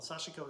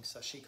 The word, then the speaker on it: sashiko: Well, sashiko is kind of the Japanese pronunciation, which I should be using, but I end up saying sashiko a lot.